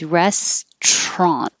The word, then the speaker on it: restaurant: the syllables respiratory respiratory this one we always drop the middle syllable so you won't hear restaurant it's always restron so we get rid of this a u in the middle and just push it together so all you have